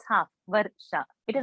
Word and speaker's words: Varsha: Now I will take Let's say my name, Varsha. It is not Varasha. Varasha is not there. Varsha. R is half. Got it? What I'm spelling? V-A-R-S-H-A. So it's Varsha.